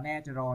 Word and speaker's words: natural: Các bạn lưu ý là chữ danh từ các bạn đọc là nature, còn tính từ các bạn đọc là natural nha.